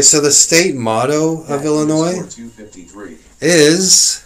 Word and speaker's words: Illinois: Okay, so the state motto of Illinois is, said, the S is silent, dumbass.